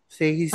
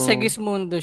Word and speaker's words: Segismundo: ganon Ano bang usually Anong pronunciation diyan seis seis mundo ay seis mundo Oo pero segismundo siya Oo EO mga ung